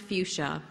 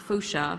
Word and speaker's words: fuchsia: think it's it's an accomplishment and um it's pronounced fuchsia and it's not fuchia which is always what you want to call